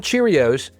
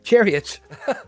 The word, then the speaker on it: Cherriots: And we're back with Shofi Ull Azum, who works at Cherriots, not Cheerios, Cherriots. it's almost spelled like that, you know? Sounds well like Cherriots, right?